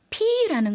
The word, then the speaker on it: พี่: พี่ 피라는 것은요. 아까 말씀드렸던 차이나 싸우가 들어가지 않죠. 그래서 남자인지 여자인지는 알 수 없는 그런 단어입니다.